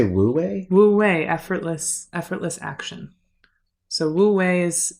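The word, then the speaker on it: wu wei: It feels very woo-way, Mm-hmm. Yeah. Did you say woo-way? Woo-way, effortless action.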